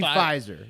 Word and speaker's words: Pfizer: so uh will i i think you got the company name wrong it's provisor p pfizer yes uh for some reason they they put a silent p at the front of fryzer but it's amazing news